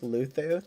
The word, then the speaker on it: Luzu: Um, in that giving giving Luzu is pronounced Luthu.